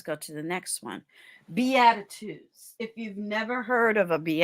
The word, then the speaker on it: Beatitudes: Anyway, when you put in the Beatitudes and make sure you spell it correctly, it's not like attitude, it's Beatitudes.